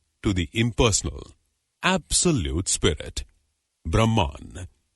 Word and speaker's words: Brahma: the impersonal absolute Spirit Brahman Brahma with a long a at the end is the masculine of the neuter impersonal Brahman the storm god rudra